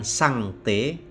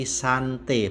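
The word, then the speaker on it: sanctae: lalu sante Hai Bukan sangtae tapi santai bukan sang Tae Tapi santai ingat ae dibaca e-artikel Suci santai dari kata Santos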